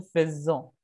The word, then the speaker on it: faisons: Ahora, la pronunciación de nous faisons. Nous faisons. Nous faisons. Esa S suena como Z.